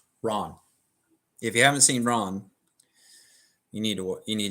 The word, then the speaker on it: Ran: us it looks like ran all right in but in Japanese it's pronounced Ron because it means in Japanese chaos then there's another one